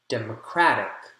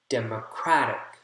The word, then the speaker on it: democratic: Democratic, democratic, democratic, democratic. Crack is the strong syllable there.